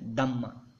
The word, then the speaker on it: Dhamma: That is called Dham, or in Pali we say as a Dhamma.